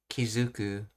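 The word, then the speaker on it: 気付く: other words, to notice, Kizuku, and it's pronounced as Zu because of the 10-10 rule when attaching things.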